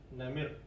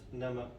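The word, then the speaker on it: نمر: Now this word namir is an old text called for tiger, but nowadays they use as nama, just for the ease of pronouncing. But when it is written, it is written in namir, the way it's written now.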